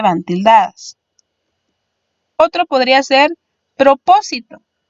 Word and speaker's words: propósito: Otro podría ser propósito. Propósito tiene en este caso 4 sílabas, sin embargo su sílaba fuerte sería po, es decir, la antepenúltima contando de atrás hacia adelante. Llevará tilde en la O.